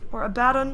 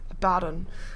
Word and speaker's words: Abaddon: I played him for the first time today, but he actually says Abaddon when he joins the game. So I'm gonna assume that that's the way you pronounce it, since voice actors normally have their name kind of right.